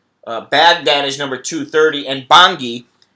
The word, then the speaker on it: Bangui: Baghdad is number 230, and Bangui, or Bangu, I think it's Bangui is how you pronounce it, in Central African